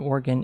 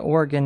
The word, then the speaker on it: Oregon: You look at Oregon and you think that's spelled like polygon hexagon Oregon and that's no. Unfortunately, it is Oregon like you're you have a gun.